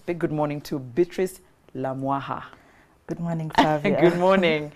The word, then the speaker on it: Lamwaka: good morning to Beatrice la wah ha good morning good morning see it's written as la huaca to the rest of us who wouldn't know how it's pronounced but I'm glad you corrected that Beatrice good morning my